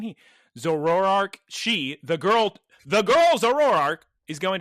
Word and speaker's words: Zoroark: You know, it could also, if Amaranth had a Zoroark, just turn into Liko, say, oh, Terapagos, come here, and then just leave and the show's over. Girls, you're missing 3 syllables whenever you say Zoroark.